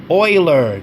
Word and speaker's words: Euler: Pendle, Morpho, Compound, Curve, Eigenlayer, Euler. Yes, that is pronounced Euler, not Euler, ladies and gentlemen. I actually have to go through physical effort not to say Euler, but it's pronounced Euler, trust me.